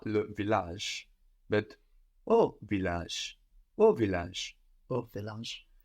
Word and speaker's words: au: To the village isn't à le village, but au village. Au village. Au village. Something very strange happens here. A and le become AU, which is pronounced like oh, oh.